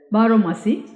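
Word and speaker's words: baromasi: aomasi barasi perhaps I don't know how to pronounce this Bali word b a r o m a s i barasi Bari correct barasi which is a narrative poem sung mainly by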